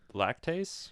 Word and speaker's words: lactase: lactase? Lactase. Okay. Yeah, like lactose, but lactase.